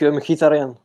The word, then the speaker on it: Mkhitaryan: Comment tu le prononces en arménien, son nom? Henrik Mkhitaryan.